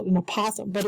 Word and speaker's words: apothem: It's called APOTHEM. The correct way to say it is apothem, with the accent mark on the A.